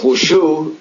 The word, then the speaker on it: Wushu: And you said that with your teaching of Wushu, do I pronounce that right?